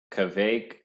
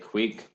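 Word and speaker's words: kveik: so some people say Kovac some people say queek one's more traditional I don't know which one I say queek because it sounds funny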